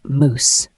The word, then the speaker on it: mousse: moose is a noun it is pronounced as moous a moous is a